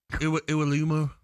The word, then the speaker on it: Iwelumo: I would call him Iwelumo. Iwelumo it is. Yeah, I think. Iwelumo. Iwelumo. Chris Iwelumo. Iwelumo. Is how you pronounce sure? it. 100%. Not No, I'll tell you why I know. Because I took time out to ask him one day.